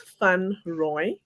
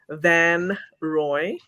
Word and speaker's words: Van Roy: way second right okay so it is fun Roy fun Roy okay fun Roy and then how how's the American butchered version there's one that's halfway butchered and the other one that's completely butchered so the first one is Van Roy say Van ruie van ruie okay so the second one is completely butchered correct okay yeah okay